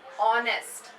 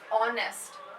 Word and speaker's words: honest: The word honest, our. These words are starting with the letter H, right? But when you pronounce it, you say honest. H is silent. It's honest, our.